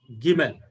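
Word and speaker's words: גימל: Actually, there is no distinguishing sound between this G and red color G. There is no distinguishing sound, but still in ancient pronunciation, there is slightly distinguishing sound. As I studied, I found it Gimel or Gimel, G or GH sound.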